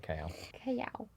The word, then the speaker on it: Callao: Yes, that is how you say Callao.